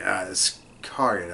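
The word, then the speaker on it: Iscariot: Iskariot, I believe is how it's pronounced.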